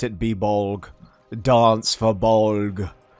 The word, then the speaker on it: Bolg: be bolg dance for bog one syllable bulk but it's so cathartic i love saying it maybe because it's similar to bulge you know let's not